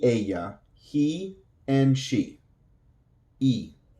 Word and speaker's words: y: E. So the Y is going to sound like a long E in English. E.